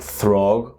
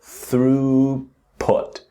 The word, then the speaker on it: throughput: So we have the th with the breathing out where the tongue touches the teeth just the tip here throughut. Now again I know you can see the gh it's not pronounced it's not throg or thugput but throughput. And notice the last pu t is put not put.